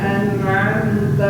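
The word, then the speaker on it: أَنْعَمْتَ: Nah, an'am ainnya dibedakan antara alif dan ain.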